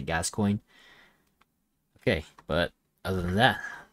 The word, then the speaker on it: Gascoigne: a game developed by james gascoigne i think that's how you pronounce it sorry if i pronounced it wrong but i pretty sure that's how you pronounce it gas coin okay but other than